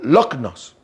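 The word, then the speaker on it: λύχνος: Ahora, esta palabra antorcha es la palabra lichnos o lognos, así se pronuncia.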